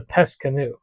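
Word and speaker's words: Pesse Kano: It's like, no, it's the Pesse Canoe. It's the word is canoe. It's Pesse is a town in the Netherlands where this ancient boat was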